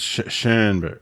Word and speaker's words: Schoenberg: It's Schoenberg. There's no R there. Everyone says Schoenberg. It's SHO with an umlaut N. So it's like Schoenberg.